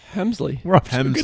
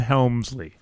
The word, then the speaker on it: Hemsley: Hemsley. Start. He no L. I mean one L. One L. Not Helmsley. I don't believe so. You know Sherman Hemsley is a big Yes.